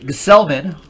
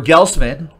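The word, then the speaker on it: Gsellman: The Robert Gselman, or Gelsman, or Selman, if the G is silent.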